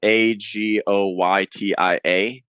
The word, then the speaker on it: Agoytia: And my last name again is Agoytia, Agoytia. That's how it's pronounced.